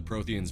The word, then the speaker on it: Prothean: It was Prothean. Prothean? I thought the Protheans vanished 50,000 years ago. Prothean, that's how you pronounce it, sorry.